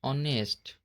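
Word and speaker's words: honest: तो इसको हम बोलेंगे ऑनेस्ट आवर इको। आई और जे कभी भी साइलेंट नहीं होते हैं।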